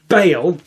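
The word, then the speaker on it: Baal: god the fake God Bale cuz I didn't know how to pronounce it then found out it was pronounced Bale but ball is funnier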